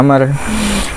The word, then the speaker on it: Amr: and Abdullah Ibnu Amr Jadi kalau ada Wow dibacanya Amar dan abdillahibni Amr Bin